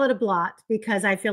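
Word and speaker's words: blót: Is it blot or bloat? Because my research says it's pronounced bloat. It doesn't really matter. People from different countries pronounce it in different ways. I've always called it blot. Some of my friends call it bloat. Okay. But I prefer to stay away from bloat because you're getting towards bloat, which is blood.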